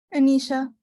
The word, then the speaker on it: Anisha: Is it Anisa? Anisha. Anisha.